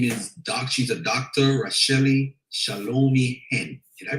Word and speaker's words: Racheli: Racheli Shalomi-Hen. Did I pronounce it correctly? Racheli, yes.